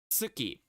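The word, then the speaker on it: つ: You want your tongue to still be close to the T when you pronounce, to the teeth. When you're pronouncing tsu. Tsu. Tsu. Yeah, like you're slurring the word to, like you're slurring, like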